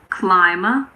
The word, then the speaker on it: climber: Occasionally, the B is silent after an M in the middle of a word. For example, in climber and plumber. Climber, plumber.